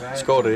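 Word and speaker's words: Škoda: That's how it's pronounced? Skoda, yeah, they're.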